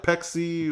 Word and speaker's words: Pepsi: on how to properly pronounce it like Mexican availed class like wait like what yeah like Peck see Lexi yeah sprite a